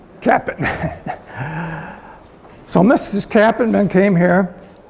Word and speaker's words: Capitman: It's hard to get the name it's pronounced easily. Capitman. Capitman.